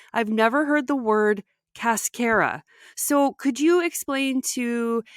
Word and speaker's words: cascara: know what cascara is, or as we pronounce it here in the U.S., cascara.